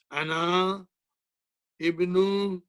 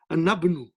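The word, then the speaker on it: أنا ابنُ: But to be more eloquent in our speech, I will say Anabnu. I will join this with this. I'll join this with Ba. And I won't pronounce Alif.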